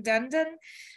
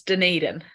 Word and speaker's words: Dunedin: the University of otago in Dundon New Zealand did I pronounce that correctly uh it's Dunedin Dunedin thank you um